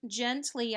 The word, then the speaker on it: gently: Up here is the word gently. I know it's gently because it's got a G followed by an E, so it's a soft G like giraffe. All right, gently.